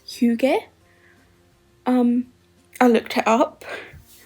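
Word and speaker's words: hygge: It's pronounced hug.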